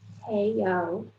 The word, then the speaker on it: Hei-ock: Hei-ock, pronounced Hei-ock, who is the Executive Director and founder for the Kim Center for Social Balance.